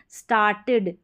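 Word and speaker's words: started: तो यहाँ पर जो है हमारा साउंड निकल कर इड आएगा, ई डी का। जैसे यहाँ पर है अपलोडेड, अपलोडेड इड आ रहा है, स्टार्टेड इड आ रहा है, वांटेड और ट्रस्टेड और नीडेड, तो इन सभी में इड करके आ रहा है, क्योंकि ई डी से पहले यहाँ पर टी है या डी है। तो यहाँ पर इड में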